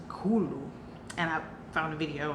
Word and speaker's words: Cthulhu: there said, actually, because what most people either pronounce it Cthulhu or Cthulhu, or maybe even Cthulhu, however, but she said it's really pronounced Cthulhu.